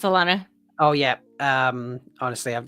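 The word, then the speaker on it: Alanna: FH out where is it's probably not lean lean because however you pronounce her name because again I read things I don't say them yeah um she has very different oh that's I that's Alana it's Alana oh yeah um honestly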